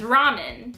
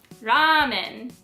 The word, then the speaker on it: ramen: you should be saying ramen do you understand the difference between ramen and ramen the extended a is the correct way to pronounce ramen this is the Japanese